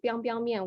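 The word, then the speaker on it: biangbiang mian: So this is actually pronounced as biang biang mian, which is a very famous noodle in northern China.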